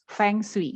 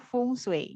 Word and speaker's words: feng shui: tahun 2002 momong bacanya fengshui atau gimana sibuk pelafalannya Bu Iya itu kalau bahasa Indonesia kita membacanya sebagai tertulis ya fengshui gitu oke tapi kalau bahasa Mandarin itu bacanya fungsi gitu artinya nanti kita bahas